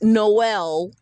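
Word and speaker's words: JKMN: J K MN pronounced Noel because there is no L.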